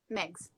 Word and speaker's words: Megs: Megs.